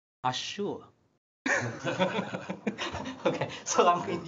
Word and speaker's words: Azure: It sounds like this word should pronounce Azure.